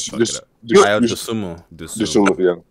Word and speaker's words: Dosunmu: Ayo Dosunmu. Dosunmu.